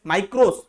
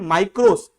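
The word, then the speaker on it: μικρός: में है ना, MIKROS, माइक्रोस ऐसा बोलते हैं हम लोग, कुछ लोग मिक्रोस भी पढ़ते हैं, ठीक है उनका प्रोनाउंसिएशन है, पर इसको हम लोग पढ़ रहे हैं माइक्रोस, MIKROS, विच मीन स्मॉल,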